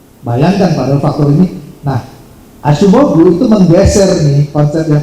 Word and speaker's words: Acemoglu: Dan kalau tadi saya bilang Acemoglu itu sebetulnya pronunciation yang benar tuh Acemoglu.